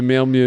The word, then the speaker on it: Malmö: The Malmö. I learned how to pronounce it in a train station.